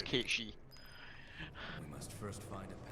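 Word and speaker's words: Cait Sith: most people pronounce it cat Seth yeah uh the actual pronunciation for those who don't know as it goes back to Scots and our Gaelic Legends and it's kichi I must first find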